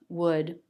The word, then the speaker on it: would: When you see the L, it's always the L sound, except for a few cases where the L is silent, like in these words, would, walk, half. There are no other letters that make the L sound.